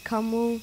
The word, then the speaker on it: Camus: You have to do a moo like a cow. Moo, Camus.